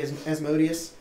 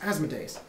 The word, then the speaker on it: Asmodeus: their own, to serve Asmodeus, however the hell you pronounce it. Some people incorrectly say Asmodeus. Some people say they're a bit thick in the head because Deus is... Never mind, it's Asmodeus. But they seek to claim